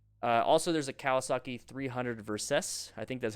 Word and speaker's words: Versys: Also, there's a Kawasaki 300 Versys. I think that's how you say it, Versys.